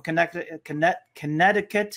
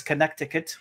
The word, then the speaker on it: Connecticut: We have Salam from Connecticut. This is a very difficult state for me. It's always been. When I was younger, I used to pronounce it as Connecticut, but it's Connecticut.